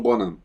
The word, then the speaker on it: Bonham: O John Bonham morreu em 1980 e eu aprendi com esse filme que se pronuncia Bonham, porque eu sempre falei John Bonham.